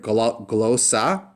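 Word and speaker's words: γλῶσσα: So we have another word, glossa. That's a word for tongue or language. And it has that gamma lambda. It sounds very similar to a GL sound.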